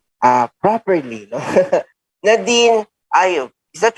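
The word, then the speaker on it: Nadeen: I mean, some people they say Nadine or yeah, some people say Nadine, but it's Nadine for me.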